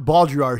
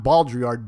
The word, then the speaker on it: Baudrillard: But if you're into simulations and simulacra, look up John Baudrillard.